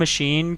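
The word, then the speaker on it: machine: मशीन हैज CA pronounced as जब हम मशीन को प्रोनाउंस करते हैं जो तो उसके सीए का जो वर्ड है कररेक्टर है वो किसकी जो प्रोनाउंस है वो शो ऑफ करते हैं वो एसएच की प्रोनाउंसिएशन आती है उसमें जब हम मशीन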